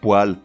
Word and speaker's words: poêle: moelleuse à souhait mais remarque pour poêle l'ustensile de cuisine ou l'appareil de chauffage non on prononce poil dans tous les cas même quand Martine